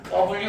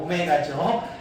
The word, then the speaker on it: 오메가: W 아니죠. 오메가죠.